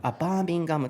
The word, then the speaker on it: Birmingham: So you were talking about how to pronounce it? Yes. So Birmingham. Birmingham とバッキンガム。